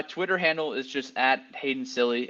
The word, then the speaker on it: Cilley: And yes, my last name is pronounced silly, so you can call me that.